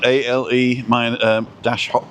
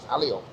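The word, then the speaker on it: Alehop: ALE-HOP. I just say alley-up. Alley-up. That's what I say. But I've heard people say ale hop. Yeah. And alley hop.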